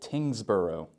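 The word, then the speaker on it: Tyngsborough: in Massachusetts we have a town name called tingbo we have the same ending the burrow similar to Marl burrow next on our list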